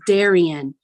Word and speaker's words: Darien: Darien, where the D is silent. Didn't you know? What did you expect? It's Darien.